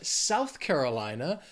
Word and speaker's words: South Carolina: Then we have South Carolina. These words together have five syllables, but the stress is gonna be on that second word, that Carolina, that third syllable.